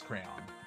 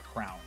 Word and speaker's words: crayon: Yeah, it is crayon, 100%. And you know how weird I am with, pronunciation, enunciation, grammar. I've made sure to find out exactly that it's crayon, and adults still say crayon or crown. And it's definitely crayon. It's 2 syllables. If you're saying that word with 1 syllable, you're saying it wrong.